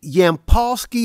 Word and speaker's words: Yampolskiy: be doing about it Senator Thomas is it yampolsky am I pronouncing your last name correctly it's beautiful you